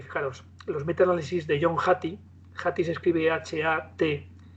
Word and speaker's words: Hattie: Y si tuviéramos que avalarlo científicamente, yo diría que, fijaros, los metaanálisis de John Hattie se escribe H-A-T y latina E, Hattie.